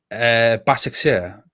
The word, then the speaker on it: Başakşehir: I still can't pronounce the Turkish team that beat Man United last year. Başakşehir.